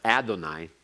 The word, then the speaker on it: Adonai: be with it but you were to pronounce Adonai not Yahweh and so you weren't